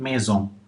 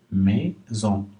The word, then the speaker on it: maison: Le S qui est au milieu du mot, s'il est entre deux voyelles, il ne se prononce pas S, il se prononce Z.